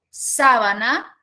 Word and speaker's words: sábana: o par mínimo ya ahí tenemos sábana donde la mayor fuerza de voz recae en la tercera sílaba y sabana donde la